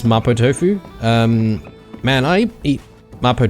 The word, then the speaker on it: mapo tofu: making that but uh because she's Japanese I think they pronounce it Mao tofu there so mabo tofu so yeah it's really